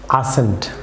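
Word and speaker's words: ascent: যেমন viewers আসেন্ট, আসেন্ট, viewers এখানে আসেন্টে যে সি, ভিউয়ার্স এই সি লেটারটি অবভিয়াসলি সাইলেন্ট থাকবে, আসেন্ট।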